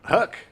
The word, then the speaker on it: Huyck: Huck rhymes with duck.